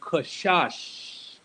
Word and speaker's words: Qashash: That's how you pronounce it, people. Qashash.